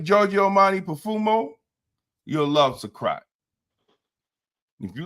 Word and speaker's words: Suqraat: It's called Sakrat by Latafa. It's called what? Spell that, please. Suqraat. Okay, say the name of it again. Sakrat.